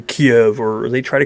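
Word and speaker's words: Kyiv: was hanging out with they were like oh it's Kiff okay that's how you say it cool but if somebody comes to me now and it's like oh it's actually Kiev or they try to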